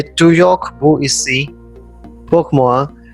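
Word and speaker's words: toujours: French word for you to York to York meaning always remember we do not pronounce the last consonant that is s so it is pronounced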